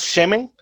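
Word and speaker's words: שמן: es del hebreo 80-81 se pronuncia más o menos semen y se puede traducir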